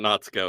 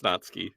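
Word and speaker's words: Natsuki: don't know naty's name her name is not natko it's natski natski whatever I was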